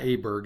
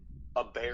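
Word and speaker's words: Åberg: yeah I like him how do you say is not Aber Berg it's like a bear a bear I mean he's been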